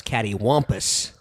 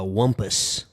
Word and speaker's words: cattywampus: i thought it was cattywampus but it's more of a whompus wampus a short u sound instead of a short o sound like pump yeah now what was